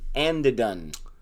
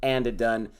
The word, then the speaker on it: Andhadhun: Because we are going to be reviewing the movie Andhadhun. Is that how you say it?